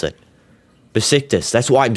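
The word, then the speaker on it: Beşiktaş: The S you read the A like I and the S. Yeah, that's what I said. Oh my goodness. That's what I said. I am not saying any T.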